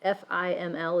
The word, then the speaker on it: FIML: So the term full information estimator, otherwise known as FIML, so F-I-M-L is pronounced FIML.